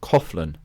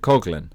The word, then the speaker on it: Coughlin: me but we in England we would normally pronounce Natalie's name coflin and yet she pronounces it Cogan which you'll hear at the end when she